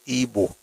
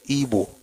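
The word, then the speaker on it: Igbo: So it is IO but is pronounced EO because that's actually how they pronounce it. It's EO.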